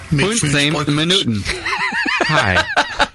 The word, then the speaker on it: Midtfyns Bryghus: Hi, in Denmark we pronounce Midtfyns Bryghus as Midtfyns Bryghus.